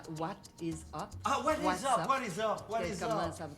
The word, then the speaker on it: WhatsApp: s s P wasap ça se prononce WASP was was je sais pas c'est espagnol comment on dit ça WhatsApp c'est dans le sens de WhatsApp WhatsApp boxbnny disait ça WhatsApp ah what'sapp what is up ah what what comment